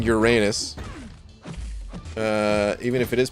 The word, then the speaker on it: Uranus: like that even uh what about urine us oh my goodness it's pronounced urines what all right hold on a sec i'm literally going to google i'm probably never going to stop saying uranus uh even if it